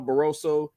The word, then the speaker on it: Barroso: Rolly's fighting uh baros I think it's Ishmael barroso yeah they say his last name I don't want to butcher it no you said it right um but barosso